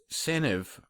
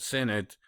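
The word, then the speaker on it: Senedd: But in Wales, somebody from what I've been told by Google is pronounced Seniv, not Senate.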